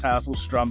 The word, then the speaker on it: Hasselstrom: Thomas uh yeah it's the last name is hasselstrom but call me Tom uh Thomas is entirely